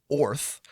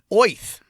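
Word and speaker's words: Oerth: uh according to the DMG o is actually pronounced Orth or oth which just makes me think of you know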